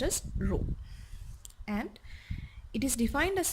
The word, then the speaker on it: rho: It is pronounced as rho, and it is defined as the ratio of